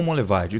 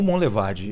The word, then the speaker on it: Monlevade: João Monlevade. Duvido se eu conseguir pronunciar corretamente. João primeiro. Monlevade? É. Não, não é? Foi meio que um sotaque aí. Mas como que é? João Monlevade.